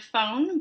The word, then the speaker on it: phon: use the roots phon, which kind of looks like the word phone, but there's no E on the end of it, so it's pronounced phon, and this word min as clues to decipher word meanings.